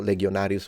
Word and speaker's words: legionarius: same in Italian Le but in classical Latin because in in ecclesiastical Latin you do that because it's very it's more modern and so you would say legionis legionarius but it's legionis legionarius so legionarius with a G sound is the original classical Latin possibly where this g